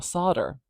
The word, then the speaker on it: solder: so or so saw solder solder D I'm skipping that L because I'm not saying it if we say it we have to put it in these brackets but I'm not saying that l s let's do a